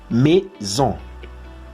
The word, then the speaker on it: maison: Nous vivons dans une jolie maison. Maison. La combinación entre la A y la I en francés se pronuncia como E.